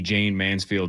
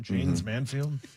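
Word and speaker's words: Jayne Mansfield: Jane's Manfield.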